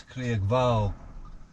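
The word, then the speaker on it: Creag Bhalg: which you won't be able to see that's craig val big vog is a little a little uh graham it's spelt c-r-e-a-g and then vogue is b-h-a-l-g if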